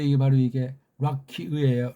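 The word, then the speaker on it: רקיע: 게 이게 바로 이게 락키의예요. 락키의. 락키아가 아니에요. 락키의라고 읽으셔야 된다고요. 우리는 아자 발음, 이 기름칠이 필요 없기 때문에 의가 아니고 그냥 락키의 그러면 돼요.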